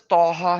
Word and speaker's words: Taha: but it says toa so how does taha has to be pronounced with the elongated alif on to and longated alif on ha that is not there.